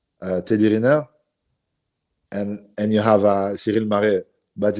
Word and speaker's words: Ciryl Gane: And since then, I've seen on your Instagram you've been working with Ciryl Gane.